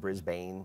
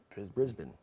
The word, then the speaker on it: Brisbane: It's not Brisbane. Yeah. Brisbane.